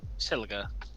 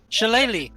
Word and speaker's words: Shillelagh: Shiliga, right? Shiliga? Used it, actually. No, Shalag? no, you don't pronounce the actually G.